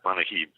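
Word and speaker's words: Manujib: You pronounce that Manahib.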